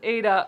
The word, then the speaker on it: Ada: Like, oh, it is pronounced as Ada.